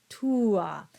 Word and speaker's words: tua: might, in some instances, put a bit more emphasis on the first of the two vowels, especially when they are at the beginning of the word, such as meam or tua.